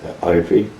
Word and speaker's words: Eiffe: Do you know, happen to know, now Connie tells me it's pronounced Effie, E-I-F-F-E, where that sighting is? Ivy.